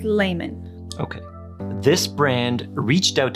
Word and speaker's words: Leimon: favorite country Japan they're called Carl lemon it's pronounced Layman okay this brand reached out to us over